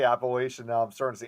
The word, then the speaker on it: Appalachian: I always say again, I used to say Appalachian. Now I'm starting to say Appalachian.